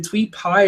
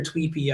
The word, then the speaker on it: Tweepy: The general idea was using the is it TweetPy or Tweepy? I don't know how most people pronounce it. I would pronounce it Tweepy, but the TweetPy module